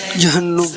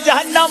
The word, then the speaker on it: جہنم: درست تلفظ کا انتخاب کریں. جہنم یا جہنم؟ جہنم. آپ نے کہا جہنم. عبداللہ غلطی نہیں کرتے مگر ان سے بھی غلطی ہو گئی ہے. لفظ ہے جہنم.